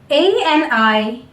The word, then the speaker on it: animal: There is no stress on the last syllable A, that is a vowel, and the way I'm taking out this last A of the animal is not A. I'm not opening or stretching my mouth anymore.